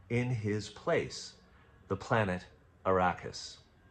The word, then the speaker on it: Arrakis: his place, the planet Arrakis. 3 syllables, beginning with A, just like Amity.